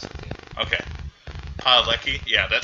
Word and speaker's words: Padalecki: Jared Padalecki. Lecky, I think. Lecky? There's an S at the end. Okay. Padalecki.